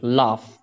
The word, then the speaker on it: laugh: Laugh, stand for laughing, and gh stand for f.